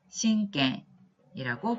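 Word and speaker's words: 親権: 친권이라는 한자는 일본어로 신갱이라고 발음을 하시면 되겠습니다.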